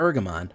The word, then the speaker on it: Ergamon: up I I I I feel like I'm mispronouncing it by saying eramon cuz it sounds like bergamont but nope it's invasion of eramon why do we like